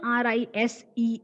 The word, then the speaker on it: rise: not rise s Allah the word should end with the sound Z okay so I hope